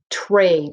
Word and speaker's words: trade: It starts with the TR blend, like tree or train. So write trade on your paper and mark it up. Okay. Check here. Did you cross off the sneaky E at the end? Did you remember to put a straight line above the A in trade?